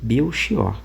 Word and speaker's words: Belchior: Ele vai dizer assim: "Tal como indica a grafia, o nome Belkior, variante de Mequior, é pronunciado com o X de mexer ou o ch de azeviche.